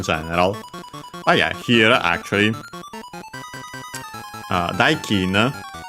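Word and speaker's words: 代金: But yeah, here actually, daikin, accent on the first mora is a Chinese compound with that accent, the second most common one for those.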